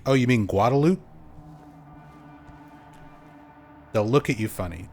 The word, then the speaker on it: Guadalupe: a Spanish speaker, you would probably want to pronounce it Guadalupe because that's how it's spelled.